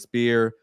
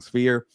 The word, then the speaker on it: Sphere: Berlanga, Canelo, UFC's Spear or Sphere. I keep saying it wrong. Sphere.